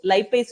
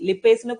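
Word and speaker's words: lipase: இதுலயே நான் கொடுத்திருப்பேன் லைப்பேஸ் நொதி, லிப்பேஸ்னு கொடுத்திருக்காங்க. சோ நீங்க எப்படினாலும் ப்ரொனவுன்ஸ் பண்ணிக்கோங்க, லைப்பேஸ் ஆர் லிப்பேஸ். Okay okay, so அதே மாதிரி அமினோ அமிலங்கள்ங்கிறது புரதங்கள்.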